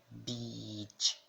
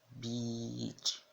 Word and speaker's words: beach: Por exemplo, na palavra beach, beach. Tem muita gente que fala essa pronúncia muito errada, né? Ao invés de falar beach, fala beach, que é uma outra palavra que, dependendo do contexto, pode ser um palavrão. Então, a diferença. Beach, beach, praia.